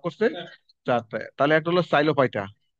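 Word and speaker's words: Psilophyta: তাহলে একটা হলো সাইলোফাইটা, এখানে পি উচ্চারণ হয় না, সাইলোফাইটাল।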